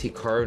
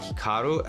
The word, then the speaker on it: Hikaru: Now, even myself, when I pronounce my name, it's definitely more Americanized versus Japanese. Certainly, if I was pronouncing it correctly, it would be more like Hikaru as opposed to Hikaru, but I've spent so much of my life here in America that that's just how I pronounce it, and everyone does the same thing.